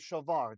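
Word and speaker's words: שָׁבַר: The only reason there's a dagish in the bait is because we have a closed syllable just before it. This is the sheen ends the syllable. So there's no vowel sound in front of this big ad kifat letter. So he gets his weak dagish.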